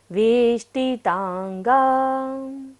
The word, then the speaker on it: वेष्टितांगा: वेष्टि में देखिएगा मूर्धन्य श है, मूर्धा से उच्चारण करेंगे। वेष्टितांगा।